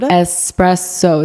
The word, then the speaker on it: espresso: I'm so sorry if it offends you, but you're doing it wrong. There's literally not an X in the word. Espresso. It's very simple if you just like spell it out.